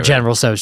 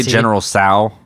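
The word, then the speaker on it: General Tso's: I'd get like sweet and sour shrimp or General So's chicken. And that was like pretty much it. Yeah. Thank you for pronouncing it general.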